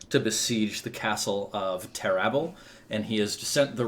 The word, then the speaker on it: Terrabil: Yeah, I always imagined it was like Tintagel in my head, but Yeah, I was thinking Terrabil and Tintagel, but no, it's Yeah. Terrabel and Tintagel.